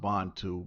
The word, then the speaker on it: Bantu: especially a Bantu all right uh it's actually pronounced bondtube but um you know shout out again to